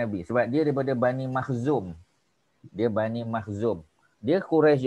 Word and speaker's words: Makhzum: Sebab dia daripada Bani Makhzum. Dia Bani Makhzum. Dia Quraisy juga, tapi bukan Bani Hashim, Bani Al-Muttalib, bukan. Ya, dia daripada Bani Makhzum. Makhzum.